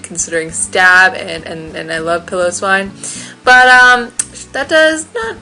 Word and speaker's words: Piloswine: Leo likes to pronounce it Piloswine. I like to pronounce it Piloswine because it's a fluffy pillow.